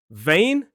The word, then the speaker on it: vein: Vein.